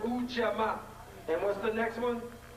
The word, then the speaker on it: Ujamaa: We have, it's pronounced Ujamaa.